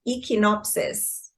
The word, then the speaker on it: Echinopsis: So, this EP is called, I'm going to pronounce this, Echinopsis.